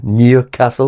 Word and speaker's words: Newcastle: Anyway, it's it's it's almost pronounced with a Y after the N. Newcastle.